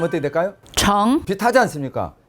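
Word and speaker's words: 成: 성, 이를 성자 발음 어떻게 될까요? 정.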